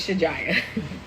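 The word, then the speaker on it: Shajiya: in Arabic is pronounced Shaja, but we're American, so her name is Shijaya.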